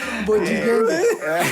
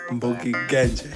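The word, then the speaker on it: Mbogi Genje: Bogingenge. What's it pronounced? What? Mbogi Ganje.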